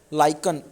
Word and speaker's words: lichen: Litmus हमारा सबसे ज़्यादा यूज़ होने वाला इंडिकेटर है, जिसको लाइकन, LICHEN बोलते तो बच्चों लाइकन है, लेकिन कुछ टीचर्स इसको लिचन प्रोनाउंस कर देते हैं.